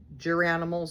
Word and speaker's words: Garanimals: the purple, but it's Garanimals, so some people pronounce it differently. Geranimals, I think.